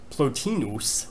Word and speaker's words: Plotinus: They are Aristotle, then the Neoplatonist Plotinus, I try to give something like the Latin pronunciation, and then Augustine, Thomas Aquinas, and Leibniz.